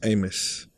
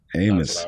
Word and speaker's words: Amos: My last name is pronounced Amos. Amos. Like in the Bible.